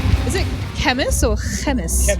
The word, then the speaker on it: Khemmis: it up one time it's chemist for sure chemist yeah chemist it's like it's like Nik Nike like I think the